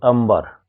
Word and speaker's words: अंबर: प और ब दोनों प वर्ग के हैं, अतः यहाँ पर अनुस्वार का उच्चारण प वर्ग के 5वें वर्ण म के अनुसार होगा, यानी म होगा।